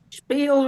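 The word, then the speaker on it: שפּיל: Spiel, right? Yes, rhymes with feel.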